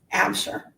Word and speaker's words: Absher: You pronounce your last name Absher? Absher.